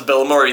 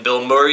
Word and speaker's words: Bilmuri: my favorite bands is Bill Murray, they're like, "What are you talking about?" And I'm like, "No, it's not the actor. I can promise you that. It's spelled this way. It's all one word.